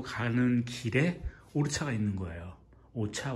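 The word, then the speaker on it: Orchha: 오차 오르차 이렇게 발음하는데 그래서 거기 들려서 한 2, 3일 쉬었다가 갈까 생각 중입니다.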